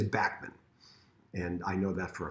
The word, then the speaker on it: Bachman: you doesn't really care but it is backman and i know that